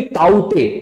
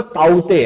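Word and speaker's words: Tauktae: इट is actually ताउते. उसका सही में प्रोनाउंसिएशन जो है वो ताउते है. हिंदी में अगर आप लिखेंगे तो काते हो जाता है, बट ताउते, ताउते इज the real pronunciation of this of this cyclone.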